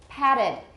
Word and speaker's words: patted: Patted. How many syllables? 2 because it's got a T.